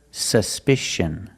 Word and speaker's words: suspicion: at this word suspicion in this word the c is pronounced with the sh sound like in fish or wish sh sh there's no voice it's a soft sound sh sh together suspicion suspicion the first syllable the U is pronounced with a short sound uh like cup and up s s suspicion the